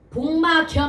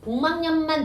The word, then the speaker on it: 복막염: 그래서 표준 발음이 뭐야? 복망이야. 복마겸 안 돼. 다시 얘는 복마겸이 된다 안 된다? 안 돼. 복망염만 된단 말이야. 발음이.